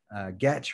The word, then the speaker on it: Getch: Getch rhymes with sketch.